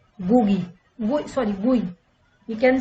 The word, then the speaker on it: GUI: These are the modern operating systems use a graphical user interface or GUI, pronounced GUI.